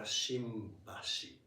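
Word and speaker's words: 新橋: But depending on the word following, or depending on sound following, it's pronounced like Shinjuku or Shinbashi.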